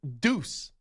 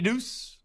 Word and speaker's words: Deuce: But he spells Deuce not the way Deuce is spelled. Deuce is D-E-U-C-E. He spells it D-U-C-E. So he's spelling Deuce wrong, but whatever, fine, it's Deuce.